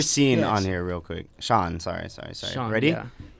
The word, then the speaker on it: Seeen: different oh yeah like no it's actually s e e e e n kind of like seen cuz I'm trying to